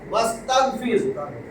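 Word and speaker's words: وَاسْتَغْفِرْ: এই যে ওয়া এবং এবং ওয়াস্তাগফির, এটা কিন্তু এই আলিফ না, এটা হলো ইস্তেগফারের আলিফ। ইস্তেগফার, এই যে ইস্তেগফার যে লেখে, ইস্তেগফার, এটাকে বলে হামজায়ে ওয়াসল। যখন এর সামনে কোনো শব্দ আসবে তখন এইটা লেখায় আসে, পড়ায় আসে না, তাতে এর কোনো জের জবর কিছু থাকে না।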